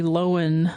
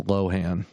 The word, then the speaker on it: Lohan: the original one because Lindsay Lowen is in the 2005 one that's Lohan and Lohan there you gotta say it right oh my she's still